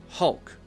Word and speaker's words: Hulk: mouth changes ah ah but when I say hull hull hull my mouth is a little bit more narrow and I'm not moving my mouth at all it's totally still and pretty relaxed so Hulk Hulk Hulk and I'm actually bringing my tongue up behind my teeth Hulk Hulk Hulk the Hulk dr.